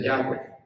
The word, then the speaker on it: Yahweh: nombre de Dios de 4 letras, que se pronuncia Yahweh, y en la otra ponía una escritura que decía para Azazel.